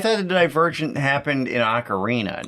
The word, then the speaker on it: Ocarina: Pier then I learned it was closer to Ocarina uh this is what I'm talking about though